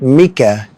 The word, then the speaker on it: Micah: First off, I believe it's pronounced Mika, and his team name is Too Old for This Blitz.